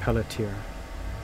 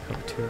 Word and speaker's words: Peletier: And I think I'm pronouncing this correctly, but Peletier. Peletier.